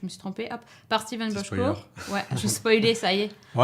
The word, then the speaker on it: Bochco: Alors, c'est Bochco que ça se prononce. Bochco.